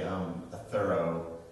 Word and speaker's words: Thoreau: Thoreau, but if you just say a thorough, it's just like a thoroughgoing reading of something. So the proper pronunciation is what you said. What everyone says is Thoreau.